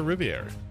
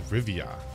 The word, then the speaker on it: Rivia: can geralt oh geralt AR Rivier AR this is Rivia I pronouncing it the wrong time every single time oh see they're going